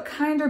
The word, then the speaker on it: KNDR: your kit thank you that is useful so kinder beauty it's spelled kndr kinda glow highlighting palette this palette